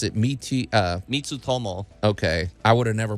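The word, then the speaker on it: Mitutoyo: Japanese brand yeah it's uh how do you pronounce it me uh mitu Tomo okay I would have never pronounced it that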